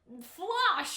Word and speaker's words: Floch: I remember that you guys were like, Cal, it's not Floch. It's pronounced like Flosh or something.